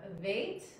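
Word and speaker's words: ב: Then we have vait, v.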